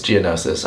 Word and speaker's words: Geonosis: we're back here on G Jour juses Jour I'm just kidding it's Geonosis I know how to say it but we're back